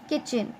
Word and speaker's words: kitchen: So KITCHEN, kitchen. Correct spelling is KITCHEN, kitchen, and we do not speak the letter T. The word T is silent.